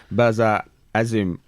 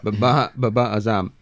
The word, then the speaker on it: Babar Azam: How do we think Babar Azim will perform in the World Cup? Is that how you say his name? Babar Azam. Babar Azam.